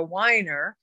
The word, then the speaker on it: Weiner: i went to college i changed the pronunciation to weiner but i think the